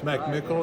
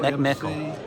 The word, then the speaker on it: McMickle: It's McMickle. McMickle.